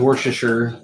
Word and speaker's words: Worcestershire: how to pronounce this i think it's worth chester shire sauce for sure tina says worcestershire i think everybody has a different way of saying this but we're gonna